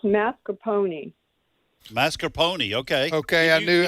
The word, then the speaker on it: mascarpone: said it's mascarpone, like a pony.